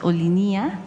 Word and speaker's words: Olinia: Ellos afirman que la pronunciación es Olinía. ¿Olinía? Ajá, Olinía. Bueno, no Olinía, sino Olinía.